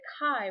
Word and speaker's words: Khai: that's not true i started shortening it to kai when i was really little but i spelled